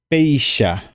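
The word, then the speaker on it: péicha: peisha peisha fíjense que en guaraní la letra ch pronunciamos como She y no como Che Entonces como si fuera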